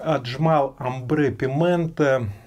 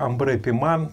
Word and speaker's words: Ambre Pimente: не понравится отписывайтесь Итак амре Пимен Я знаю что правильно по-французски произносится Амбре пиман Привет рна Был у